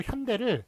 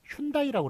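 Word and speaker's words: Hyundai: 제가 인도에 간 적이 있었는데 인도 현대를 슌다이라고 그래가지고 전혀 못 알아들었습니다.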